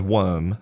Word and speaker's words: worm: look at the word worm, okay, it's spelled w o r m. Now in most British English dialects we do not pronounce the r.